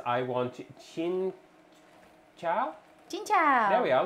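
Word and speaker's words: cincau: Chin chow. There we are. Look, I actually pronounced the C as a ch.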